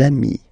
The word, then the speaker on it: amis: you will get des amis, okay? Des amis. So ami, remember, doesn't change. Even if you get to write the S, then you don't pronounce it, okay?